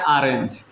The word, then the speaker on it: orange: ठीक है, दूसरा है ORANGE, इसे पढ़ते हैं ऑरेंज।